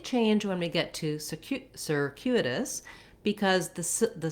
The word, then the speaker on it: circuitous: So I would build circuitous from the U part. So letter U has the glide y and the u, and then add your k sound. So trying U, Q. It's actually how we pronounce letter Q. So that may help you as well to visualize that if you can think of it that way. And then we still have our sir beginning, just like we have